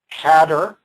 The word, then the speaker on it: CADR: And that's pronounced, not that anybody pronounces it, cadder, CADR.